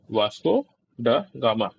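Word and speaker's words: Vasco da Gama: तो स्पेलिंग ध्यान रखना है वी ए एस टी ओ डी ए जी ए एम ए वास्को डागा गामा reached Calicut in 1498 वाया C root.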